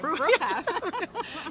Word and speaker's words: Bruecher: Bruecher.